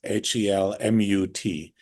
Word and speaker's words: Helmut: Helmut Albrecht, I'm not spelled like the helmet, which even you did, Tammy. It's Helmut.